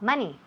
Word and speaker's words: money: Ok, so, todas esas palabras tienen el mismo sonido. M-O, pero se escribe M-O, pero se oye como si fuera una M-A. Month, money, Monday. Nunca month, money, Monday. No, eso es típico de Spanish.